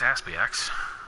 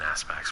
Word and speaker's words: ASPX: So there it is, the IPX ASPX. And the more I say that, knowing that it's a ridiculous name and I'm pronouncing it wrong, I know it's an Aspects, but if I say IPX ASPX, it's funny.